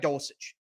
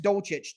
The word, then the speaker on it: Dulcich: He's going to need to do a great job again against Greg Dulcich. Silent H in there somewhere.